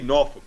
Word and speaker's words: Norfolk: Just say Norfolk, man.